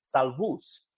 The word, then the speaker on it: Salvus: what it means it's it's a Latin word and in the Latin it's actually pronounced salvus which means safe and